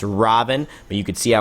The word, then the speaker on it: Ravana: God Robin and uh you don't pronounce the a at the end of the name I guess it's a sign of respect so I've heard so I won't do that it's Robin but you could see